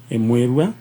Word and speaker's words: Mwirua: kuma kuria Murang'a Mwirua uga Mwirua Mwirua ni the correct pronunciation ni Mwirua na we wetagwo Anwaini